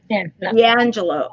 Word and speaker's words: D'Angelo: how do i say your last name correctly d'angelo d'angelo okay i just want to say it correctly